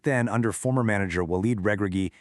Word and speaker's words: Regragui: Back then, under former manager Walid Regragui, and yeah, you got to hit that hard guttural G when you say his name, the 2022 Atlas Lions relied really heavily on this brilliant contain and counter strategy.